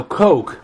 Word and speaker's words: Koch: Koch brothers shirt now Coke is pronounced like the drink but it's spelled like